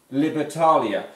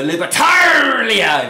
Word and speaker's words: Libertalia: on which is called the libertalia or the libertaria if you want to say it like that every single time